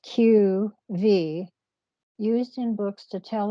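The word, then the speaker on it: q.v.: too so Q dot V Dot and it's pronounced q v used in books to tell a reader that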